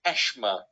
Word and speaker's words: asthma: First of all, in Cape Town it's pronounced Ashma.